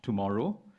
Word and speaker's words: TMRW: United Overseas Bank from Singapore has just launched in Thailand a digital-only bank, TMRW, pronounced tomorrow, aimed at millennials in particular.